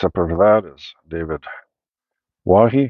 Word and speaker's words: Twohy: Then next up after that is David Wahi. Do you pronounce the T? Is it Twohy? Twohy? Twohy? Wahi?